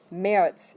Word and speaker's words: März: So how do you say March? März. It's like an E.